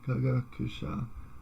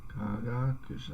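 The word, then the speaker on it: 科学者: Kagakusha. Okay, so that sounds like it's got an accent on the second more there. Kagakusha.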